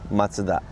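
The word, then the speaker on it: マツダ: Mazda in the US, and in Japan we pronounce Matsuda.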